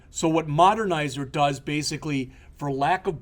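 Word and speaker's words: Modernizr: have heard of this that's not a misspelling it literally is pronounced modernizer all right but what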